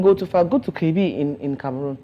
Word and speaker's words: Kribi: Go to Kribi in Cameroon. Say it again. Klivi. You said? Let her say it. Go to Kribi. Kribi. Spell it. K-R-I-B-I.